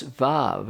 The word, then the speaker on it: Vav: the Hebrew letter was VAV is pronounced VA it isn't a dominant